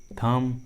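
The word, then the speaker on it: thumb: Trick के अनुसार B silent होगा, बी का उच्चारण नहीं करेंगे। देखिए सभी इंग्लिश वर्ड्स में कॉम, बॉम, टॉम, थम, क्लाइम, लीम, डम, इन सभी इंग्लिश वर्ड्स में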